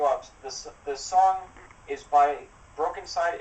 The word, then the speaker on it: brokeNCYDE: By a group called brokeNCYDE. No, brokeNCYDE. brokeNCYDE. BROKE. Broke. Side. NCYDE.